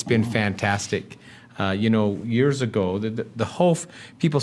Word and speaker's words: Hof: Hof. See, that's why I have you here, because I say it wrong every Hof time.